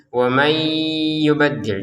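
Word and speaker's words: وَمَنْ يُبَدِّلْ: Di sini wam yubaddil nun sukun bertemu ya. Kita masukkan ya. Kita masukkan disertai dengan dengungan. Wamay yubaddil. Didengungkan ya.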